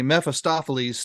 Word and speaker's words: Mephistopheles: The other thing is that, you have this, and listeners, I'll be sure you hear all the syllables here, a Mephistopheles storyline going on with Balder, right?